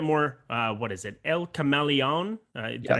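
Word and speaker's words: El Camaleón: a little bit more uh what is it el cameleon uh did i say that correctly okay cool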